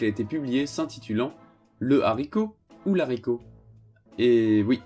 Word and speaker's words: haricot: nous dit je cite le h de haricot est aspiré c'est à dire qu'il interdit la liaison impose que ce mois soit prononcée 10 juin de celui qui le précède au singulier comme au pluriel on écrit et dit le haricot non la ricoh un beau haricots non un bel haricots fin de citation ce